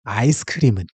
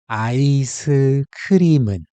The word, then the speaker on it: 아이스크림은: But remember, 이응 in 은 is silent. So the m naturally moves over into that silent spot. That's why it's actually pronounced 아이스크림은. So let's say it together. 아이스크림은.